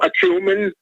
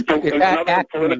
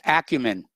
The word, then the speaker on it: acumen: heard the terms political acumen? I know you have political acumen and political perspicacity. It's acumen. You're putting the emphasis on the wrong syllable.